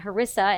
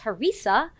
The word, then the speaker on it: harissa: I was pronouncing it harissa, and she schooled me that it's harissa, and so I thought, you could say it either way.